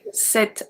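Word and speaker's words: cet: we are going to use set as well pronounce the exact same way as the feminine one this man set so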